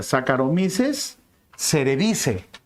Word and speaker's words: Saccharomyces cerevisiae: recibe el nombre de, se escribe distinto, se pronuncia distinto. Saccharomyces. Cerevisiae, pero no se pronuncia así. Se pronuncia Saccharomyces cerevisiae.